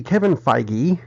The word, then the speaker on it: Kevin Feige: news after they finished the Captain Marvel movie Kevin Feige and that is how it's pronounced I called Marvel and asked hey they're